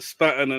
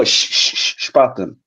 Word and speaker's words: Spaten: These guys have all had the Spatten, and I'm the last one to the party. You have to learn how to pronounce it, though, Al. It's not called spat. Spaten. Spatten. No, Spaten.